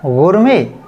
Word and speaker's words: gourmet: देखिएगा, GOURMET, तो ऐसा महसूस हो रहा है, ऐसा एहसास हो रहा है कि हम ऐसा पढ़ें जैसे गवर्नमेंट, लेकिन गवर्नमेंट तो रॉन्ग है। अब आपको राइट प्रोनाउंसिएशन करना है, आज के बाद आप राइट प्रोनाउंसिएशन कीजिएगा। ये लिखा है गुरमे, गुरमे।